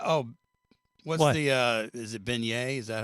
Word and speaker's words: beignet: Oh, what's the, is it beignet?